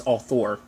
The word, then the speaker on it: author: word i always say arthur like the show arthur i always say it like that but it's all thor it's one of those